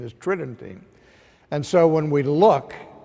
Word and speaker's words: Tridentine: tridentine it would sounds like it would be pronounced try denting but the normal pronunciation is trending and so when we look to the conciliar